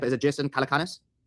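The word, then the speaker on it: Calacanis: So, first of all, if you want to explain, I don't know how to pronounce his name. Is it Jason Calakanis? Yeah, Jason Calakonis.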